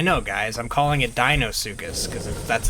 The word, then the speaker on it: Deinosuchus: a dino circus now i'm actually fully 100 aware that it's it's supposed to be pronounced dinosukis not dino sukis like i have always been calling them however you get into